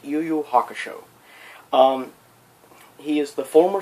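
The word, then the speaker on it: Yu Yu Hakusho: from the anime series yoyo hakusho or hack it should well have you one pronounced yuyu hakusho um he is the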